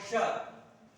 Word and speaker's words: श: अब देखिए श में भी जीभ जो है ऊपर जाएगी श, ठीक है। श जीभ को ऊपर बोलना है श, जब करेंगे श का उच्चारण करेंगे तो जीभ होनी चाहिए।